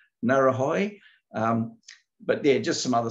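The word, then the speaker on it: Ngauruhoe: I think Josh will not know how to pronounce it. It's Maori name, Narahoi.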